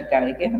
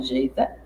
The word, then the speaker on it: Geiger: Nós estamos falando daquela divisão de Pedro Pincha Geiger, né, ou Geita, a depender da pronúncia, que ele divide o Brasil em três grandes complexos, né, geoeconômicos.